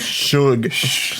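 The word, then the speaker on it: Suge: It's Shug. You pronounced it right off camera, and now that we're on camera, he's getting nervous.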